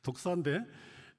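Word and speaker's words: δόξα: 여기서 사용된 단어 어 영광이라는 단어는 어헬라로 독사이 뱀의 이름 독사가 아니고요. 발음이 그렇다는 뜻입니다. 독사인데 뜻이 뭐냐면은 단순한 그런 명예가 아니라 존재의 빈담, 존귀함 이런 뜻입니다.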